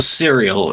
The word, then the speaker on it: Cyril: say your name uh uh the cereal uh would be my the way I like to pronunciate it I don't know I